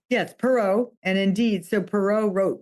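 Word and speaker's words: Perrow: Have I pronounced that correctly? Yes, Perot.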